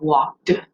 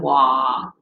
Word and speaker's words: walked: the ends on words, making sure you pronounce all the way to the D sound at the end of walked instead of wah, without that ending on it.